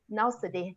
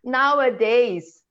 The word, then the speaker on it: nowadays: It's nowadays. Nowadays. The S is at the end, not after the NOW.